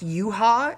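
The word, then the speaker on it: Yuhua: that is not Japanese now even though it's pronounced you ha it's actually spelled you ha and there is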